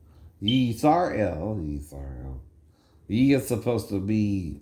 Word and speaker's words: Yisrael: Yisrael. Now it ain't Ra-El either. In other words, right? That's more Egyptian pronunciation, right? Because of Ra, the sun god, right?